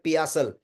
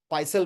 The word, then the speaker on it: पियासल: जयराम नायक from Orissa से कह रहे हैं पियासल, पाइसल मैं बोल रहा था, सॉरी, इट इज पियासल।